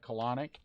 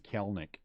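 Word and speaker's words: Kelenic: to say clinic because it sounded like colonic and i thought that was funny but then but then people are getting mad at me because i wasn't saying kelnick and so i decided to say it right some people are so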